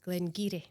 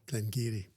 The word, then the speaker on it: Glen Garioch: And it's actually, believe it or not, Glen Giri. Glen Giri. And it's a it's funny because you think I just wasn't expecting that. No. You know, it does not look like Glen Giri.